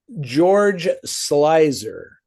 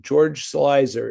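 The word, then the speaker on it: George Sluizer: Uh George Slicer. Doesn't look like that's how you pronounce it, but that's how you pronounce it. George Slicer is the director of that film.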